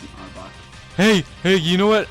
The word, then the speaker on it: Arbok: you have to fight him anyway so that arbach kept giving me a tough time just in it's it's just AR it's an Arbok hey hey you know what Arbok is backwards